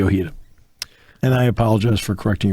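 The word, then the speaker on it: Ojeda: red sox rookie bob o'gata no hits the yankees oh excuse me it's okay it's spelled oj eda right yes bobby ohio and i apologize for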